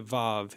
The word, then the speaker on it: vav: And vav in the modern Israeli pronunciation is a v like in the word victory. In ancient times, it would have been a W.